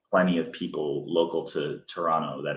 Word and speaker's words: Toronto: of people local to Toronto that it's you do not pronounce the T you know if